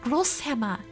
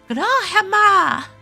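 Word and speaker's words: Großhammer: Fun fact, the B in Grobhammer is a S, so it's pronounced Grosshammer. Ah! Grobhammer!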